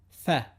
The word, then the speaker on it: ف: It sounds like the first letter of the English word family. Fa. Fa. Make sure you pronounce it short, sharp, and light. Common mistake is to say fa. The correct pronunciation is fa.